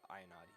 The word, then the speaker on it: Ayanati: She came up and was like, it's actually Ayanati.